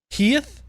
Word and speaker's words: hiith: It's pronounced hiith. Heath?